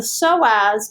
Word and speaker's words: psoas: are deep now the psoas is that one with a p so um the p is silent okay there's a psoas